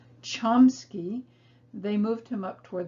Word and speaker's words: Chomsky: time and interestingly enough he changed the pronunciation of his family name from kamsky to chomsky because when he entered public high school they sat him in the middle of the room with the students whose names began with k because they didn't recognize that his name actually began with c so when he changed it to the english pronunciation chomsky they moved him up